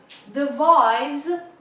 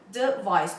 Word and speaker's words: device: is device pay attention the sound of s here is device device to levels under stresses on the second level device means to think